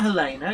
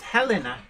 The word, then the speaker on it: Helena: interesting Robert stairs MD says pronounced Helena Helena it's not Helena it's Helena as in handbasket and interesting enough when